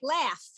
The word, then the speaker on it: laugh: together you have a word like laugh the gh is an f but then you have